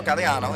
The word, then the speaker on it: Gagliano: because some people think my name is spelled Gagliano because it's Gagliano. So I wanted to make sure. How do you pronounce it? They said no, Galliano. It is Galliano.